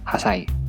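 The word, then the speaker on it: 八歳: Nah, untuk angka 8 harusnya kan hachi, tapi dibaca hasai.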